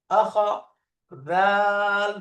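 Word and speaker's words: أخذ: আখজা, মাশাআল্লাহ। আখাদা, আখাদা, আখাদা। তিনটা অক্ষর একটু আমাদের বাংলার সাথে, আ, আ, এরপরে খ, খ, দা, দা, আখাদা। বলেন তো। আখাদা, আখাদা, আখাদা, দালটা নরম, আখাদা।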